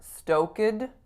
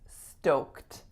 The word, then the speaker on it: stoked: stoked stoked the IDI there is no vowel sound on that II so it's not stokin its stoked so it goes right